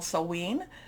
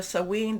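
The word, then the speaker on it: Samhain: also in what's called sewen there's different pronunciations i think i'm doing the scottish pronunciation of this but we can you know you know there's different celtic celtic type of pronunciations so sewing this is what a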